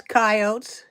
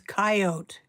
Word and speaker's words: coyote: Yes, Sage has coyotes. Please note, the proper pronunciation of the word is coyote. Not coyote. Coyote. That's original Middle American thing.